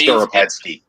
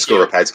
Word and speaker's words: Skoropadsky: I'm not even going to attempt to pronounce that name, or it remains. Skoropadsky. Thank Skoropadsky.